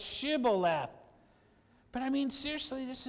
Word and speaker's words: Shibboleth: And if he said no, then they would say to him, "Then say Shibboleth." That's kind of interesting. And they would say, notice, they would say not Shibboleth, Leth, they would say Sibboleth, for they could not pronounce it right.